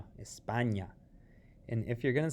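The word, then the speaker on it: España: choose to say spain be sure to call it espana see they have a different name see in spanish spain is called espana notice it has that tilde espana and if you're going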